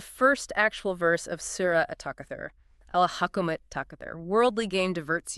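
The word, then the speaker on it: التكاثر: At the beginning of at-takathur, you have the definite article al. But because the ta is a sun letter, the lam is silent, and the Hamzat Wasl isn't pronounced because it's mid-phrase.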